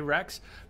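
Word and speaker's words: Wrex: Why do you always hear Rex when I say Rex? Because the W is silent.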